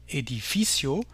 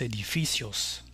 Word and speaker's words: edificio: Si on avait notre mot au singulier edificio, avec l'accent sur l'avant-dernière syllabe, le S ici ne changera rien, c'est la marque du pluriel. On continuera de dire los edificios.